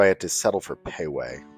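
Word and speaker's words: Pei Wei: However, unfortunately, their credit card system wasn't working properly, so I had to settle for Payway, which my wife informed me later is not pronounced Pee-Wee.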